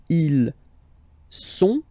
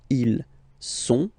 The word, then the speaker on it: ils sont: Okay, ils sont, final T not pronounced, ils sont, elles sont.